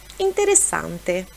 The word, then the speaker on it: interessante: coisa significa Legal ou interessante interessante igual ao português só pronúncia né o a no italiano é sempre aberto há antes de n